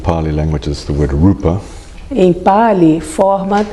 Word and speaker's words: rupa: Try and get the Pali pronunciation or the Sanskrit pronunciation, please, rather than Portuguese.